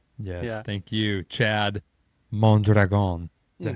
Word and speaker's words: Mondragon: thank you, Chad Mondragon.